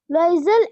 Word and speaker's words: Loisel: Lozel. Loisel. हाँ, ये Loisel. French actually this is a French language, French pronunciation, French names हैं ये.